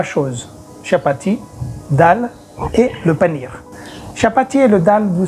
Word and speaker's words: paneer: Pour faire un plat à la base de panir, il faut connaître faire le panir même. Ça s'écrit P-A-N-E-E-R, panir.